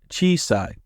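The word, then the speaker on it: 小さい: Chisai, another familiar face here. Note there is another E after the first chi. So chi, I, sa, I. But all pronounced smoothly together. Chisai.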